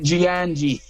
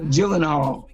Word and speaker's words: Gyllenhaal: I can pronounce it, but he's in. Jake Giangi. No, Jake Gyllenhaal.